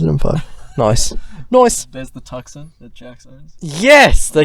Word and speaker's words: Tucson: No, yeah, she calls it the Tucson. I'm like, that's not how you say it. It's Tucson.